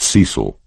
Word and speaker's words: Cecil: Melanie Rose taught Bible school and had twin daughters by someone called Cecil, pronounced Cecil, who 3 months ago had taken a return ticket to Eleuthera and thus far had not used the second half.